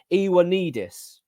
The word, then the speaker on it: Ioannidis: They're looking at Fotis Ioannidis. I checked that name out. I got it right. I pronounced it.